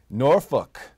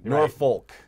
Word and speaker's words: Norfolk: not Jan Hatton anymore Norfolk that's how it's said by the way Norfolk not nor Foulke if you say that to someone region we know you're not from there yeah so that one